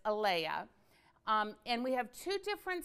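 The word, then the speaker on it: Alaea: is the red sea salt and it's actually pronounced alaya it's al EI e no AE a a l AE a but it's Alea and we have two different sizes one is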